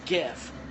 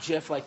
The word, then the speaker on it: GIF: It's GIF, not GIF like the peanut butter.